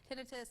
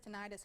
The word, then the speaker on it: tinnitus: And something else we've talked about in the past, tinnitus, tinnitus, however you want to pronounce it, it is Awareness Month this month.